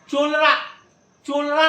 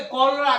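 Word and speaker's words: cholera: अब आगे देखो आप चोलरा नहीं पढ़ना, क्या पढ़ेंगे? कॉलरा।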